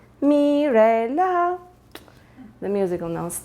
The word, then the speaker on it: Mirela: It's Mirela. You know, do, re, mi, fa, sol, la, si, do? Yeah, it's me, Mirela.